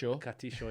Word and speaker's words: Castillo: And in my neighborhood in Argentina, which is Rafael Castillo, which is Castillo, yeah.